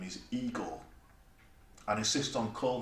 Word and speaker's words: Igor: frederick frank enstein immediately rather than others name pronounced as I got insisted his name is Igor an assist on : Gene Wilder's cards are